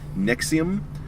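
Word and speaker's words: NXIVM: participation in Jesus Christ Nixon Nixon the creepy self group pronounced nexium whose leader has changed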